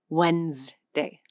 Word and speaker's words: Wednesday: Most people say Wednesday. The word is spelled with a D, an N, an E, and an S that all apparently decided to retire early.